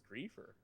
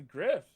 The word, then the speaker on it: griefer: That is so weird that it's griefer. That makes it instantly uncool, and I'll never say that again. Have you been saying it wrong this entire time? I thought it was a griff. I thought you were like griffing. Like a grifter.